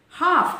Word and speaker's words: half: so here l comes between a and f half it is not half it is half c